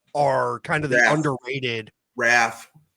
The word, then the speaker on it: Ralph: Raph. The L is non-existent and silent.